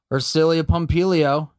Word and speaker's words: Ersilia Pompilio: hey let's get to know nurse or cilia or cilia pompilio tell me i pronounced your name correctly you did of course